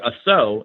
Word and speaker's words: assaut: And the version of Savate that I like the most is called assault, or assaut is how they pronounce it.